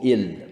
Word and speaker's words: il: mais ils étaient le i au Québec on dit on dit i on dit pas il pourtant la bonne prononciation c'est il il faut que l'élève